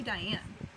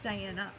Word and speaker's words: Diana: name all the time they call me diane my name is diana there's an a at the end not an e i am not a diane so don't ever call